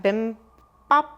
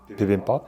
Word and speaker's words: bibimbap: Get ready to butcher the the Korean language. Let's see. We had the atak bimbap. Bibimbap?